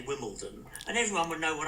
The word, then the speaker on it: Wimbledon: For example, the word Wimbledon, even sometimes without B. Wimbledon, not Wimbledon, Wimbledon, Wimbledon, Wimbledon. Not Wimbledon, that would be bad. So I would say Wimbledon, but I could also say Wimbledon, and everyone would know